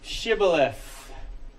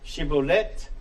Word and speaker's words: Shibboleth: Essentially a stream, but it has come to mean, so in two different dialects, you can either pronounce the T and leave the H silent or pronounce the H. Shibboleth or Shibboleth.